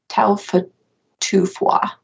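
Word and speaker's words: Taufatofua: competed in cross-country skiing taufa tufua I think is probably the correct pronunciation of that Peta is uh like the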